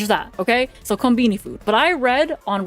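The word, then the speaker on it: コンビニ: I read on Reddit that a lot of convenience store, and I'm gonna refer to a convenience store, by the way, as konbini, because that's just how they say it over there.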